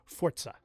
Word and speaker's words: Forza: Forza Horizon 5 or if you want to say it correctly, Fortza?